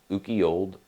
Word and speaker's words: Ukiyold West: You can find us at Ukiyold_West. The Y is silent, and there will be a link in the show notes.